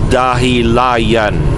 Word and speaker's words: Dahilayan: On YouTube, search that and look for the one that says Dahilayan. Dahilayan, Bukidnon. Dahilayan is spelled D-A-H-I.